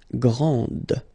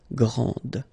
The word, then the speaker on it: grande: Okay, so grand, and then the feminine form, grande. Okay, so you put this E, and then you get the sound D, grande.